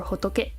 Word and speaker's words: 仏: And this is Buddha, Futsu or Hotoke, which apparently also can mean France and is pronounced as Futsu.